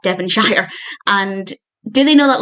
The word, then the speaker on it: Devonshire: Now, the manor is in Devonshire, which they pronounce Devonshire, which was very amusing to me. Don't have a problem with it. I'm sure I pronounce many American place names incorrectly. And plus, Casper is from America, so he's not going to know it's not Devonshire.